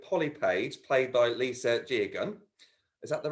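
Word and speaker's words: Geoghegan: Because a good part of the plot was when Cathy started working with Polly Page, played by Lisa Jegan. Is that the right way of pronouncing it? Jegan, yeah.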